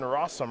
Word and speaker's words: Rosum: Rosum rhymes with awesome, 8-1 here with Jeskai Control.